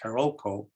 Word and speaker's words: Carolco: The company Carolco, sometimes pronounced Carolco, sold the rights to Miramax.